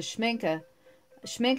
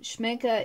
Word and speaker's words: Schmincke: And I'm gonna, the color is very intense now with the Schmincke is spelled, it's down below in the description. I'll have all the different materials that I used in this, but Schmincke is very intense.